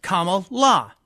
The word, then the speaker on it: Kamala: educated to pronounce it, it's comma with a la. So it's a punctuation with a la in the end, Kamala.